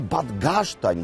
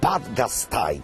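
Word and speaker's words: Bad Gastein: tamtych czasów czytając nazw w Polsce z reguły mówimy badin byłoby to logiczne bo słowo czyli kamień Tak się właśnie wymawia ale miejscowi mówią Zawsze badgaj i mówią to z pełnym szacunkiem dla miejsca odkryte przez górników zdrowotne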